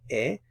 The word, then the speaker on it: he: So Notice it's yo he, the H is silent. You don't pronounce the H, so yo he.